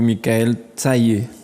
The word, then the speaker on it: Mickaelle Tayee: Merci beaucoup, Michael Taillé. Tout à fait. Bien prononcé, c'est ça? Oui, Michael Taillé, oui.